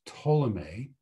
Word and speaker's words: Ptolemy: In fact, there's one person whose name is Ptolemy. And this is a name that I hope you learned in your junior high school science class. It's spelled with a P, but the P is silent.